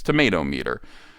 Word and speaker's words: Tomatometer: I tried to find a different way to pronounce it, and I used to be able to do it, but it's tomato meter.